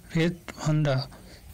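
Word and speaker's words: Red Vanda: রেড ভান্ডা, উচ্চারণটা হবে রেড ভান্ডা।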